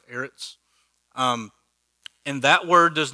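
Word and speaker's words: אֶרֶץ: the hebrew word here is heiress kind of pronounced eretz um and that word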